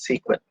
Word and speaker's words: SQL: learn in sql sql so normally we will pronounce it as sequel okay so sql is